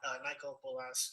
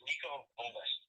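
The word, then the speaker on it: Niko Bolas: Did Michael Bolas use Pro Tools to record the album? All right, you mispronounced his name. His name is Nico Bolas.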